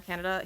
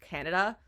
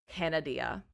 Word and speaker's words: Canada: Like, I think we're friends on Facebook, if I'm thinking of the right person, who, no joke, pronounced Canada, Canadia. I'm not kidding. Pronounced it Canadia.